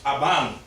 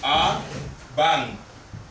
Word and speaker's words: aban: If I tell you Aban, then this is what you hear. A-ban. Right? This is the stress. So you have to apply a Peggy on the vowel. Then that would be Aban. If it doesn't say Aban, then it means Abba. Abba. And remember, the N at the end of the word is a nasal N.